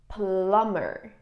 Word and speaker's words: plumber: read this together um it is plumber plumber no b a plumber is someone